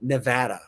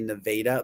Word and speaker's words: Nevada: Um, number two, Nevada. Because some people may say Nevada, but it's Nevada.